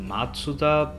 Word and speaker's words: Mazda: bit misleading I guess Mazda apparently it should be pronounced matuda but whatever I guess